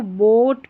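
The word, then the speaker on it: boat: लेकिन यहां पर ए भी जुड़ा है तो बोट पढ़ेंगे। क्या पढ़ेंगे? बोट यानी ओ का उच्चारण बड़ी ध्वनि लॉन्ग ध्वनि यानी कि लंबा इसका उच्चारण होगा।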